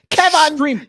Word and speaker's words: Kevan: Kevan, you know, you got to say his name like how, like in Home Alone. Home Alone. Kevin McCall. Kevin. They say, "Hey, is Brad here? Is John there? Who's missing? Kevin. Kevin's missing." They're like, "Come on!" yeah. That's how you gotta say his name.